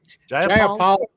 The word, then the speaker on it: Jayapal: This is Representative how do you pronounce her name? Jayapal.